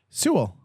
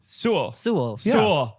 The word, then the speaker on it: Sewell: Sewell. Sewell.